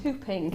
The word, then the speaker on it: whooping: oh I've had the hooping cough jab today oh hooping it's it's spelled whooping hoop but it's actually pronounced hooping yeah um and it